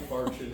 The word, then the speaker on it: infarction: should be infarction, not Okay. infraction, yeah.